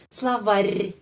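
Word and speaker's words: словарь: kamus slawar slawar ya juga perhatikan ke pronunciation ya slavar ada tanda pelemah yang melemaskan huruf r terakhir yang terakhir slavar slavar bukan slavar slavar terus p bantuan bantuan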